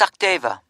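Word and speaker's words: Sachdeva: It's Sakdeva. Okay, can you spell that for me?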